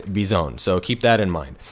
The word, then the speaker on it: Bizon: bison and it's called bizone it's not bison or bizon or anything like that it's bizone so keep that in